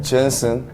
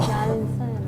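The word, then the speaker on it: Jansen: 젠슨. 그러면 안 되죠. 왜요? 저 사람은 네덜란드계 사람이에요. 발음이 그럼 다르게. 어떻게 해야 돼요? 얀선이라고 해야 돼요. 얀선. 얀선이라고 해요.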